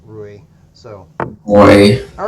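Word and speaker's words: Ruy: B 5 okay the Royal Oh pass let's do it it's not the Royal Lopez it's the Roy Lopez but people say Roy because they can't pronounce Rui so wait all right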